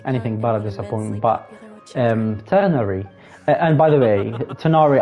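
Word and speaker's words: Tighnari: by the way, Tanari, I know they pronounce it Tanari, but in Arabic it's not Tanari. It's, you know, the R letter, the R in French when they say R, like bonjour instead of bonjour, R.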